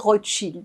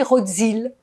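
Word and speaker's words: Rotszyld: Parce qu'il est né en Pologne, et en Pologne, le SZ est équivalent du CHE. Alors, Rothschild, ça s'appelle comment? Ça, c'est Rothschild, R-O-T-S-Z-Y-L-D. Mais si on veut bien le prononcer, on doit dire Rothschild.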